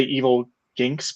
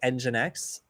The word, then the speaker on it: nginx: developed and uh maybe I always say evil ginks but maybe that's incorrect I don't know I I've heard that it's pronounced like nginx uh so I'm just going